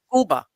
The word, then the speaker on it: Cuba: I say Cuba because that really has how they pronounce it. Cuba. Cuba. It's Cuba.